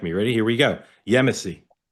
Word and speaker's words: Yemisi: Yemeny. Perfect. Yemeny.